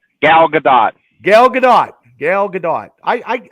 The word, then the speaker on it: Gal Gadot: her name I always mess her name up Gil Gadot yes did I say it right Gal Gadot Gal Gadot Gal Gadot I I don't know